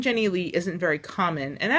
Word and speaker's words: Jennilee: this is a psa it's pronounced jenny lee it's not that hard please please pronounce it